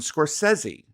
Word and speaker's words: Scorsese: And this drives me crazy because I found out that we I'd been mispronouncing Martin Scorsese's name, which is now Martin Scorsesi.